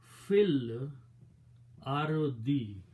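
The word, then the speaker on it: في الأرض: Harf jar will change to this a kasra, and now it will be, you do not pronounce this alif now, it will be fil ardi, in the earth or on the earth.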